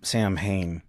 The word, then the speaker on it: Samhain: Probably not a ton of stuff on Samhain, and that's how it's pronounced, Samhain, right? So even though it looks like Samhain, it is not Samhain.